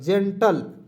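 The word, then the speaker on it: gentle: रूप में करेंगे देखिए जी का उच्चारण ग की ज तो ज ठीक है ज इसे ए की मात्रा जे आधा न एन से आधा न टी ए से ट और एल से होता है जेंटल ठीक है जेंटल जेंटल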